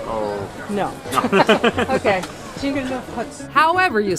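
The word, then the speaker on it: Zhingyalov hats: Jingalov huts. Jingalov hut. Jingalov huts. Yeah. Jingalov huts. Do you know how to spell it in English letters? Oh, No. Okay. Jingalov huts.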